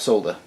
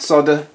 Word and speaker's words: solder: right do I have solder it's not solder solder it's not a soldering iron as a soldering iron look at how it's spelt okay so glad solder